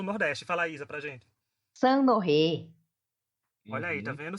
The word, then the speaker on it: Saint-Honoré: Saint-Honoré. Olha aí, tá Uhum. vendo? Saint-Honoré, parece Olha passo de ela.